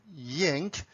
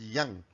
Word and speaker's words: yang: Some people pronounce it as yang. It's up to you, but in the original Chinese pronunciation, it's pronounced as yang.